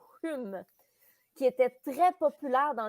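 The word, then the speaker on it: Home: Non, Hume, oui, ça se prononce Hume, qui était très populaire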